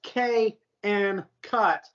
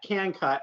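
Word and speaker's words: Kncut: cut drill bits now it looks like it's K and cut but you pronounce that can cut and I verified it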